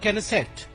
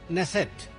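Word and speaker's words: Knesset: Modi goes to द केनेसेट I think it is pronounce नेसेट नेसेट in Israel and ही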